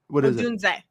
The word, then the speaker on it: Odunze: Odunze. What is it? Odunze, not Odunze.